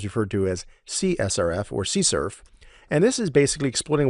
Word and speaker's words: CSRF: riding again I mentioned it's pronounced see Cerf so it requires the